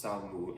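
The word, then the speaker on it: 扫墓: Tomb sweeping is pronounced Sao Mu in Chinese.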